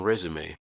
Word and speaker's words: resume: and it can also take on a long a sound as in resume for the letter i